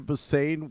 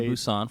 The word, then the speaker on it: Busan: uhome got train to Bain with train to Bain Peninsula train to Busan for all those people with who want correct pronunciation Snow White in seven